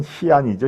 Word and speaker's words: 시안: 예, 서안이라고 쓰고 중국식 발음은 시안이죠.